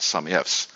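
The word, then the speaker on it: SUMIFS: ribbon some if and some ifs although some people pronounce this some if s what do you call it some ifs what well that's that's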